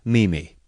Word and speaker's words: Mimi: Amelia Sturgis, known to most people as Mimi, pronounced Mimi.